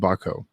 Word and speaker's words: Bochco: It was produced by the Stephen Botko. I think it was Stephen Bochco. That's how I pronounce his last name.